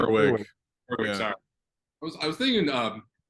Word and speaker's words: Gerwig: And then Greta, how do you pronounce her last name? Gerwig.